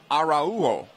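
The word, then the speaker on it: Araújo: kick for orlando so julian pronounces his name arajo cesar arauwo it's spelled the same and we'll do our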